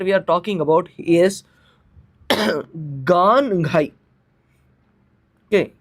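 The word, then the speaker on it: Gaan-Ngai: The first festival that we are talking about is Ganghai. Okay, Ganghai. You write it like this, but you pronounce it as Ganghai festival.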